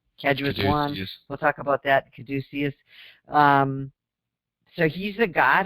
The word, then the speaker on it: caduceus: and i thought that i would read the casus so how you say it caduceus thank you the caduceus is a common symbol